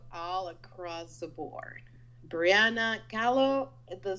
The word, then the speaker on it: Khalo: well i am all across the board brianna carlo the spelling is k h a l o and it's pronounced like frida kahlo which is i love